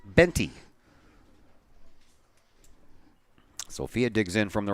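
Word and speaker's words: Boente: high spell's her last name b-o-e-n-t-e and it's pronounced benty sophia digs in from the right side no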